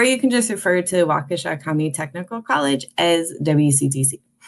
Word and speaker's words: Waukesha: waukesha county technical college waukesha can be a weird word to pronounce but it comes from a native american word meaning fox an easy way to remember it is to think about kesha and put wa in front of it so or you can